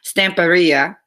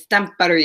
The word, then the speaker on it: Stamperia: so also we're going to be using the stamp area I actually learned how to say it and